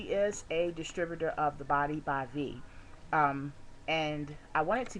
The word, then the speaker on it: Body by Vi: month supply of the Body by Vi. It's actually pronounced Body by V.